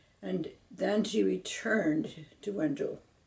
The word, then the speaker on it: Wenzhou: And then she returned to Wenzhou, which we used to call Wenchao when I was growing up. But the pronunciation changed during the 20th century.